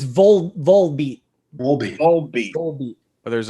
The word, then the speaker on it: Volbeat: How did you pronounce the vault beat? It's Volbeat.